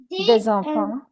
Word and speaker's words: des enfants: Des amis, we pronounce Z because we have a liaison. Vowel after silent consonant. Des amis, des enfants, but des livres. here we don't have any vowel.